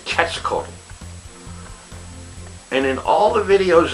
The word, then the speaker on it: Quetzalcoatl: The QU in that word has a hard K sound, which means it comes out sounding, instead of Quetzalcoatl, it's Quetzalcoatl.